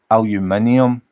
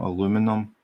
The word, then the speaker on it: aluminium: Yeah, router, I don't know, tomato, but everybody knows that tomato is the correct pronunciation, and it is aluminium, not aluminum.